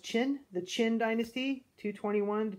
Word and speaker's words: Qin: they tried really hard this was pronounced chin the Qin Dynasty 221